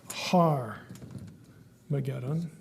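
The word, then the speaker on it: Harmagedon: it bigger here Armageddon has a rough breathing Mark for those of you who've had Greek so it's pronounced har mageddon an h and so har is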